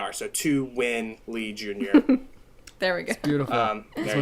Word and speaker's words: Tuan Lee Jr: number two this is it's my name spelled phonetically so it's the number two w-i-n-l-e-e-j-r so to win lee jr there we go beautiful